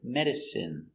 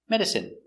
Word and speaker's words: medicine: our first example medicine pronunciation is in medicine medicine medicine is not countable usually